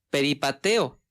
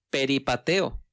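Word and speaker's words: περιπατέω: donde la palabra andar viene de una palabra griega que se pronuncia más o menos así peri pateo peri pateo y esta palabra significa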